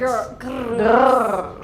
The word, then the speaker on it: Grrrls: if you're loud and angry, and And That's grrrls. Girls. Yeah. Okay, thank you very much. Is it okay for you that I pronounce it like Girrls Kollektiv, or is it not?